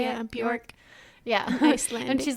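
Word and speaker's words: Björk: Yeah, Bjork.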